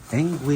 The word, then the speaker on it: Engwe: But thank God, and lucky for us, we have the engwe. Is that how you pronounce it, Mike?